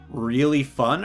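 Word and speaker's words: Raillefan: you read this r-a-i-l-l-e-f-a-n you pronounce that like really fun or something with all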